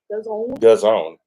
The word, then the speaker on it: DAZN: DAZN. Because it rhymes with calzone.